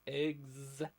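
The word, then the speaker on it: EGS: nosis weapon system pronounced eggs like then we have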